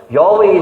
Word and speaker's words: Yahweh: you heard of Jehovah Yahweh is the more correct pronunciation of God's name you always say to